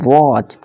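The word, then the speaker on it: watch: बाद क्या है सी तो इसी तरह से टी साइलेंट हो जाएगा और इसे पढ़ेंगे वच अब देखिए टी के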